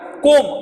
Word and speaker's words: comb: See my friend, comb, I said comb. I didn't pronounce b because in this word b is silent.